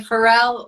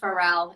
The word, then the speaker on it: Farel: Farrell is that correct you can say Pharrell or Farrell whichever we kind of Americanized the thefn which is not my husband would say it so I say Pharrell is how I pronounce it but it doesn't